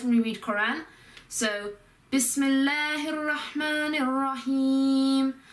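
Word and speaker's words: بِسْمِ ٱللَّهِ ٱلرَّحْمَٰنِ ٱلرَّحِيمِ: So Bismillahirrahmanirrahim. You have to link all the words together to make it sort of flow better.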